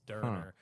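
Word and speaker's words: Döner: Middle Eastern food the derer that's the F they it's pronounced derer but it's spelled donor it's derer it's like Shawarma but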